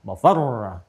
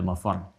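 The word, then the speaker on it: مَفَرّ: Mafar ada tasdidnya tuh. Ya, ainal mafar. Ada tasdidnya, makanya bacanya juga bukan mafar. Awas. Ya, bukan mafar.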